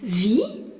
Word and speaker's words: wie: Le mot interrogatif wie, W-I-E, signifie comment. Le E qui suit le I prolonge la prononciation du I. Wie.